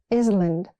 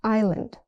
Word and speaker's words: island: The s is silent. It's not island. It's island.